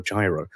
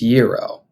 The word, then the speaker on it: gyro: giros or Giro or Gyro which one is it so apparently it's Euro and I had been pronouncing it gyro for a long time until a very nice